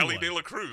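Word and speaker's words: Elly De La Cruz: it's not that tough It's really an easy Ellie De La Cruz Ellie De La Cruz pry easy it's one of the easiest names to pronunciate Ellie DEA Cruz yeah that's a Worthy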